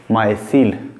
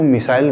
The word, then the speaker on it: micelle: कुछ लोग इसको मिसाइल बोलते हैं, कुछ लोग इसको क्या बोलते हैं, मिसाइल, ठीक है। तो आप लोगों को मिसाइल नहीं बोलना है, मिसाइल का स्पेलिंग अलग होता है, ठीक है, लेकिन ये क्या है, माइसील।